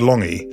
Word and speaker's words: Lange: to go around explaining why your name which is spelled l a n g is pronounced long I mean it was